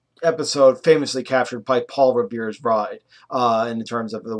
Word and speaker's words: Revere: why we remember Paul Revere by the waist because his name is last name rhymes with word here when it comes to